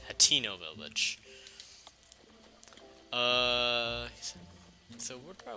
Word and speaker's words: Hateno: I used to think it was spelled with another vowel, but it's Hateno Village.